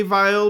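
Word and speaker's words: Weill: was Kurt vile and Kurt vile is definitely pronounced with a V sound here for the American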